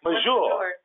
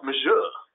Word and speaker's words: force majeure: When we get to the COVID-19, is it force Majeure. majeure? Oh, Mr. Jablon, you would have answered that. How do you say that? Oh, majeure. It's majeure. Majeure.